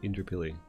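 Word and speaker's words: Indooroopilly: It is spelled Indurupilli. Indurupilli. People call it Indrapilli. Indrapilli. Just they miss like everything in the word.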